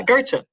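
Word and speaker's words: Gøtzsche: might pronounce his last name wrong, but Peter Gosch from he was previous. What? How do you pronounce it? Yeah, Goethe.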